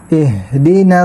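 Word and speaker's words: اهدنا: Kaya kapag sinabi mo ito na ihdina siratal, ihdina ay ang ginamit mong letter H ay yung ganyan. Kaya hindi mo natamaan yung pronunciation, dapat ha. Ihdina siratal mustaqim.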